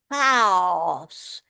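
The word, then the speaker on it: χάος: It's pronounced in Greek chaos. It's got a great guttural sound right at the back of the throat and then comes forward. I think only in Scottish with the word loch do we actually make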